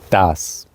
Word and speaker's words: das: Das.